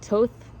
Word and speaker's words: Thoth: but I started channeling Thoth, or I think you pronounce it Toth, but it's spelled Thoth.